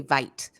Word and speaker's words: Vite: and the pronunciation because I kept wanting to say Vite and it's not Vite it's vit so how did it